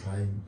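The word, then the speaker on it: Heine: Cuando uno oye las citas que él hace de Jaim, Jaim se pronuncia, Fran, pero Jaim.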